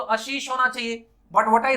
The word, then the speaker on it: Ashish: अगर मैं कह रहा हूं मेरा नाम आशीष है तो आपको आशीष ही प्रोनाउंस करना है।